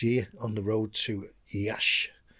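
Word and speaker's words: Iași: on the road to Yash which is spelled yasi and and this base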